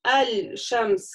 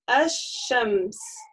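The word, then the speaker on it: الشمس: И получается у нас мы не читаем аль-шамс, как было с лунными буквами, а читаем аш-шамс. Аш, да, то есть удвоенное. Аш-ша. У нас лям не читается.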